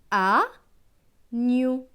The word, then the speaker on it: agneau: Avec EAU, EAU, c'est O. Donc gne et O, gno. Donc ce mot va se lire agneau, agneau, un agneau.